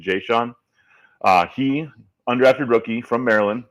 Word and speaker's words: Jayshon: to the practice squad, a guy named Jayshon Jones, I believe is the pronunciation, Jayshon.